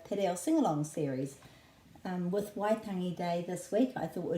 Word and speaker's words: Waitangi: Waitangi is the pronunciation rather than Waitangi. Waitangi, and this is a flattish T, ta. Waitangi, Waitangi, and the emphasis is on the first syllable Y because it's a double vowel.